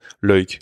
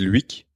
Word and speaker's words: Luik: Ça se prononce Loïc. Et en France, certains Français qui ne connaissent pas le flamand disent Luik.